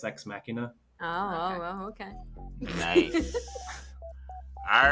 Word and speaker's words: Ex Machina: all right Charlie say Charlie ex machina like deus ex machina oh oh okay nice